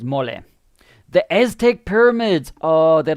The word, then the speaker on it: mole: It looks like it's written like the word in English, mole. I've got a mole over here. It's a part of your face. But I know in Spanish it's mole.